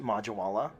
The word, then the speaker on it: Majwala: It's actually pronounced Majwala.